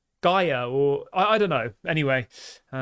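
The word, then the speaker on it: Guéhi: I keep calling him Gaya, the Crystal Palace centre-back, and it's not pronounced like that whatsoever. It's like Gaia, or I don't know.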